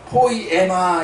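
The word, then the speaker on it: ποίημα: 여기서 만드신 바라는 말에 신약성경 언어인 헬라어에는 포이에마 이렇게 발음합니다.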